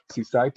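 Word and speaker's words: CSIDH: it that way so this is this is pronounced seaside and was proposed uh it was published in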